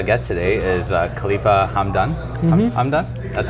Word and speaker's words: Hamdan: Hamdan? That's how you do pronounce it, right?